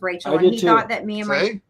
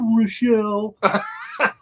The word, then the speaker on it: Richel: no no forget it no he actually thought my name was Rachel were screwing with him and pronouncing it weird and I was like no no I was like okay Rochelle I'm sorry I said